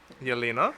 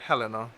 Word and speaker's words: Yelena: Yelena? Hello? Yeah, of course it was. Okay. We were talking and she was like, once he didn't pronounce it like Helena.